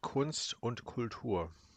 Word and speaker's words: Kunst und Kultur: That's pronounced Kunst und Kultur. I'm talking to the game. Oh, okay. The game is pronounced German words incorrectly.